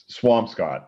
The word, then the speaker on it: Swampscott: How do you pronounce that? Swampscott.